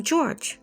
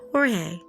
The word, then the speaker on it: Jorge: that I've listened to they're pronouncing his name George not Jorge so George Torres Jr